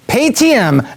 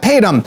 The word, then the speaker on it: Paytm: This week on Case Studies with the Biz Doc, it's Paytm, pronounced Paytm, not Paytm.